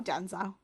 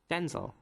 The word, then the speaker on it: Denzel: Denzel yeah denel but he pronounces it Denzel stressing the zel whereas Denzel is his dad so they can so it's son actual Denzel Washington yeah if that makes sense Denzel Washington Jr pronounce it Denzel so stressing the den I don't know I